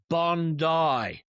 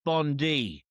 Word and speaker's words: Bondi: Our beach is pronounced Bondi, not Bondi. Bondi is how you pronounce your Attorney General.